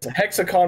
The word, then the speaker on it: HexiCon: hexacon yeah okay so the eye is kind of Silent there so yeah because hexacon was already taken by another convention so I changed it to an i to get around that so yeah I think